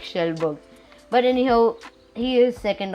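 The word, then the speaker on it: Kjellberg: And by the way, his pronunciation for his actual name, Felix Schellberg. I thought it was Schellberg, but never mind, it's Felix Schellberg.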